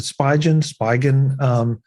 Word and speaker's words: Spigen: How do you pronounce it? The Spigen.